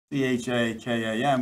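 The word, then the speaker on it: חכם: But the word in our Bibles that appears here as subtle is from the Hebrew chakam, C-H-A-K-A-M, but it's pronounced chakam.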